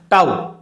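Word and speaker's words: tau: के उच्चारण से जानते हैं वह आ गया ताऊ इसका उच्चारण होगा अगले अवार्ड का यह घटाओ चले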